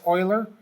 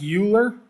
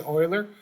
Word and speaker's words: Euler: ciphers for the decryption it becomes euler it's pronounced euler it looks like euler um but it is euler leonard euler was a famous mathematician he's got